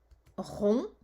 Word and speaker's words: rond: Rond, donc c'est encore le on de cochon, ON, et à la fin de rond, il y a un D qu'on n'entend pas, puisqu'on peut dire ronde.